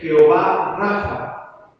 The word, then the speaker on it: Jehová Rafa: O como bien se le conoce en la Escritura, en los nombres de Dios, que es Jehová Rafa, con la acento en la A, ¿verdad?